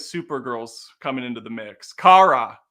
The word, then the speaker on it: Kara: Kara. Is it Kara or Kara? It's Kara. It's Kara Zor-El.